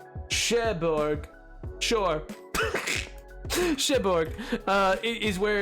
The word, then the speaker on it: Cherbourg: Pronounce. Cherbourg. Cherbourg.